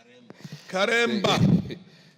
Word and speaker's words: Karemba: Karemba. Yes, that is the correct pronunciation, Honorable Speaker, and thank you very much.